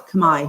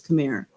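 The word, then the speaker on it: Khmer: it's spelled khm r we pronounce it Kamai here in Cambodia outside world usually says cir and so it actually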